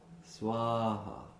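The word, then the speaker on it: स्वाहा: Om Durga Durga Rakshini Swaha. Notice that Swaha, they're long A's.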